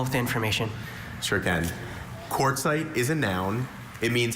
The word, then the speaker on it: quartzite: Quartzite.